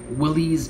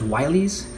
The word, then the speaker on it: Willys: The 42 Willys MB Jeep. Now, I've heard from Jeep enthusiasts that's actually pronounced Wileys.